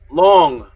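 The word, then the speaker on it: 龙: The Hunya Pinyin, which is the pronunciation in Mandarin, long.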